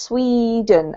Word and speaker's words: Sweden: you Anna so this this particular country name in English is has a long e sound pronounced Sweden and Swedish okay very clean sure